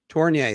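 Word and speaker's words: Tourigny: I'm gonna butcher his name completely, would be Torgny. How do I pronounce that? Andre Tournier. Tournier, thank you.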